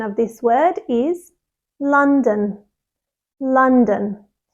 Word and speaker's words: London: of this word is London London the stress is on the first syllable and the second syllable is really soft and quick so it's D D